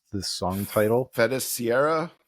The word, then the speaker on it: Feiticeira: Feta Sierra. Feiticeira. It's a Feiticeira. it's a Portuguese word that means sorceress.